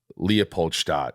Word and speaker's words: Leopoldstadt: And even seeing like highlights of Leopoldstadt. Is that how you pronounce it?